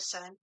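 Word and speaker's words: Sunn: Yeah, you don't say Sun O, you just say Sun.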